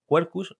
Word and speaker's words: Quercus: Y también he leído acerca del tema del método que les aplicas, Quercus, si no, no sé si lo pronuncio bien, Kerkus, Kerkus, Quercus, perdona.